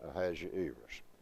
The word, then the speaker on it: Ahasuerus: And you got 5 syllables on that name, Ahazu, long E, so the accent in my text is on the E. So that's the reason I'm saying Ahasuerus.